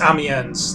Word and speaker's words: Amiens: gardens apparently really cute you may be mispronouncing it but I don't know how to pronounce anything French no it's amiens that's the pronunciation that uh the Trapper